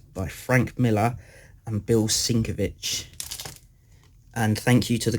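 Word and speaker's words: Sienkiewicz: Frank Miller and Bill syncovich and thank you to the guy that corrected me on how to say his name you all right 100% right it's not sync of it sinker wits it's sinker beautiful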